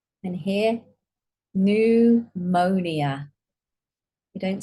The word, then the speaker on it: pneumonia: And here, pneumonia. We don't say pneumonia.